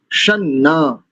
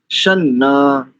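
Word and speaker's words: शं नः: मंत्र को देखते हैं सना सम नहीं करेंगे अधिकांश लोग श ऐसा करते अशुद्ध उच्चारण है शना अनुस्वार को न क्योंकि आगे भी ना है तो शन इंद्रा इंद्रानी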